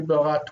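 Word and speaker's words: בָּרְאָה: We have a method here, so It's just that even though that's technically a vocal shva, we don't pronounce it like that.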